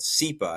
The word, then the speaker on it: CEPA: in the M&A space called SEPHA. And I might even be call saying it wrong. But why don't you You're saying it correct.